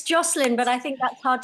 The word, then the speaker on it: Jocelyn: but it's good yeah yeah anyway yeah it's Joselyn but I think that's hard to pronounce in um Brazilian right yeah yeah similar